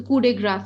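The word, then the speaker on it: coup de grâce: So coup de grass, I would rather say. Okay. So coup de grace, again a French word.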